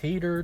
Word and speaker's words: Hadar: cool spell, Hunger of Hadar, or Hadar, depending on how you want to pronounce it. I've always pronounced it as Hadar though, so I'm going to stick with that throughout the course of this video.